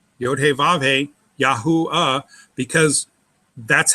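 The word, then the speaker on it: יהוה: Okay, let's start with the Yehuda and trying to extract Yahuah out there. Go ahead and write Yahuda. Yahuda. Yah, Y-A, syllable, break.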